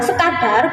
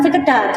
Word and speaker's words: sekadar: Nah, kata sekadar dalam pengucapan ataupun penulisan yang benar adalah sekadar, bukan sekedar.